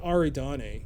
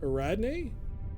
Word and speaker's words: Ariadne: how you pronounce it it's not aridane it's eradney I can't remember how